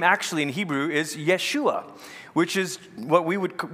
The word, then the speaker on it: Yeshua: of course his name actually in Hebrew is Yeshua which is what we would we say we pronounce it as Joshua but Yeshua in Hebrew